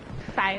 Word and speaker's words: phi: In modern Greek, phi is pronounced as F and is no longer PH, so hard plus a hard P.